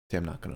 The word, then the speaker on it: Tam Nakano: Tam Nakano. That's how you pronounce it.